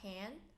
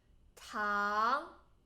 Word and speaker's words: 糖: and then sugar 糖 not tan 糖 second tone 糖.